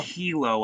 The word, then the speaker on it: Kylo: going on here no the name kylo oh oh it's pronounced kilo i'm sorry i was